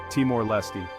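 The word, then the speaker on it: Timor-Leste: The name Te-our Leesty. Teour Lee. It might take a few tries to get it right, but that's part of the fun.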